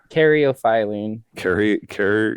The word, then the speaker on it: caryophyllene: Caryophyllene.